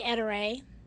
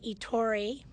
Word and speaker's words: Ettore: name of the company how do most people pronounce it we say Etta Ray a lot of people say etori or etor the English pronunciations well the important